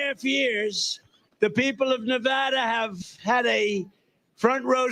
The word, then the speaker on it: Nevada: couldn't think of it you always have to say it correctly Nevada you got a callada